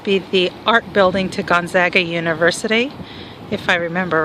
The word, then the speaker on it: Gonzaga: The proper pronunciation in Spokane and for the university is Gonzaga, as opposed to the Italian pronunciation of the name Gonzaga. So there's a big mix-up, especially with the East Coast sportscasters that refer to it as Gonzaga as opposed to Gonzaga.